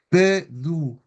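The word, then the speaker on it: püdü: Entonces, en español nosotros vamos a decir pudú, pero en picunche y en mapuche en general es pedú, pedú.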